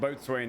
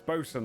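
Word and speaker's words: boatswain: Yeah, it's not boat swing. No, it's bosen. Like you get a ship bosen.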